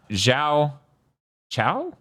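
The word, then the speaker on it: Xiao Qiao: settle ever no okay so the Q is a CH so yeah Z Chow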